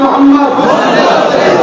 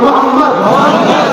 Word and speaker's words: মুহাম্মদ: আপনারা সবাই একবার বলুন মুহাম্মদ, আপনারা উচ্চারণ করুন মুহাম্মদ। খেয়াল করতে কোন নবীর নাম নিলে দুই ঠোঁটে ঠোঁট ঠেকছে, বলুন মুহাম্মদ।